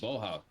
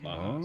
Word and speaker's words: Bauhaus: This is Boha. All Yeah, right. it's a German Oh, band. Bauhaus. Okay. Yeah, Okay. Bauhaus.